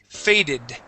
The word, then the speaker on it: faded: The only time when we pronounce the E is with words that end with a T, like spot, okay, or with a D, like fade. Okay, so for example, this word is spotted.